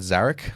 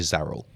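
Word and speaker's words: Zarel: Um and then let's go to Sorry, I said Zaric like real Zaric. It's actually Zarl.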